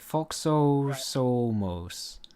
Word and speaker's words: Foxos: foxos you got to you got to pronounce each o as an O Okay foxo soos every single o just make the o sound F can you say